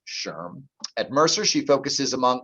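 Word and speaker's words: SHRM: and the society for human resource management that's pronounced sherm at mercer she focuses among other areas on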